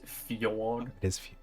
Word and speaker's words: Fjord: Well, It's pronounced fjord. wait, is it? No, it's pronounced No. Ford, but it's Spelled? spelled Fjord.